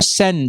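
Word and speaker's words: Seine: जिसके बाय द वे इसके स्पेलिंग है एस ई आई एन ई एन E sorry but इसको river सेन बोला जाता है प्रोनाउंस किया जाता है इसमें 100 साल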